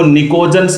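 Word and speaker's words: pnictogens: ज्यादा इंपॉर्टेंट है, इनको निकोजन्स बोलते हैं भाई। क्या नाम दिया जाता है, जिसका पी साइलेंट है, निकोजन्स।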